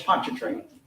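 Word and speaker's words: Pontchartrain: It's Ponchatrain.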